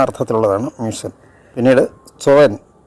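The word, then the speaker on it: sollen: ആ അർത്ഥത്തിലുള്ളതാണ് മ്യൂസൻ പിന്നീട് സോ എൻ എസ് ഓ എൽ എൽ ഇ എൻ ആണ് പക്ഷേ ല ഉച്ചാരണം വേണമെന്നില്ല സോ എൻ പക്ഷെ ഷുഡ് നിർബന്ധമായും വേണം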